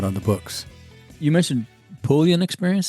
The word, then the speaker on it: Puglia: You mentioned Puglia experience. Say that again. What was that? Puglia, which is one of the regions in Italy. How do you spell that? Highly sought after region. It's Puglia.